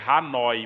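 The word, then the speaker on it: Hanói: da Torre de Hanoi Na verdade eu tava pronunciando na pronúncia francesa mas na verdade é Hanoi mesmo igual tá escrito aí a Torre de Hanoi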